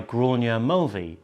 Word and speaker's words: Gráinne Mulvey: June, is a piece entitled Great Women by Gráinne Mulvey. Now, first of all, have I pronounced that right?